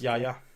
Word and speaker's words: Yahya: that's just how it is pronounced. It's Yahya.